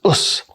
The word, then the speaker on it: Osu: a contraction and that contraction right which is pronounced as us is a term that means I'm going to